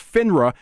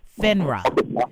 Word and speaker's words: FINRA: So if they're not a member of FINRA, you don't want to work with them.